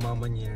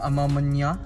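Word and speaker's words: A Ma Maniére: Iba ang pronunciation na ito, Amamanier. Sabi Amamanier, Amamanier. Amamanier. Amamanya. Amamanya, 'di ba?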